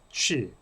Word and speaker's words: Qi: 그래서 기라는 영어도 취, 기의 중국어 발음이 취입니다. QI 이렇게 뿐이 표현하지 못하고 있습니다.